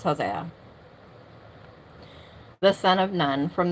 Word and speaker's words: Hosea: Yosha the or actually sorry Hos Hosa which is actually I think it's just pronounced Hosea the son of Nun